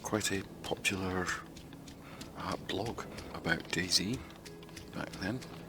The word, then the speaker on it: DaiZy: the original Daisy and we called it Daisy sounds the same that is spelled slightly differently not the best thing